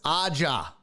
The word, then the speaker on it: Aja: It's like Asia. Wait, what? Aja? So Aja, not Aja, Aja. I'm Spanish. We pronounce the J as an H.